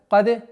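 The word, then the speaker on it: كاد: Каде. Кад нет. Одна из самых распространенных ошибок является то, что звук даль при произношении калькали выводит на уровень каф.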